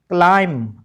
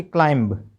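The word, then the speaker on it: climb: ऐसे अगला वर्ड देखो सी एल आई एम बी क्लाइम ना कि क्लाइंब टी ओ एम बी टू ये थोड़ा सा आपने ध्यान रखना है।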